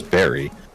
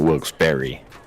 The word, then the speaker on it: Wilkes-Barre: the cops were Pro will pronounce it bar and bear and Barry and then Dan always says Barry yeah so it's always Barry and this is the local news and they're calling it Wilkes Berry oh well I learned